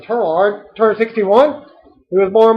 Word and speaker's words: Tureaud: Laurence Tureaud, I'm pronouncing Tureaud, turned 61.